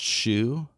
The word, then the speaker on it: Hsu: Uh, first off, her name's pronounced Shu. Shu. The H and the S transposed.